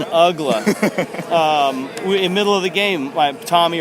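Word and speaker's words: Uggla: month of the season nobody would pronounce his name right pa announcers other broadcasters anybody and we got tired of telling him right now his name is dan ugler his name is dan ugla middle of the game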